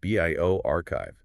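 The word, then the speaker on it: bioRxiv: And for those unfamiliar, buyer is pronounced bioarchchive, bio archive.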